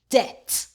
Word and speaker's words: debt: Who BT says T the B is silent. D at debt.